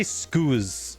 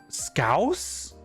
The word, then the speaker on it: Scouse: How do How do I pronounce that word? I want to say scooz.